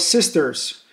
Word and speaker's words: 6TERS: What about sisters? Well, that's a play on words and pronunciations.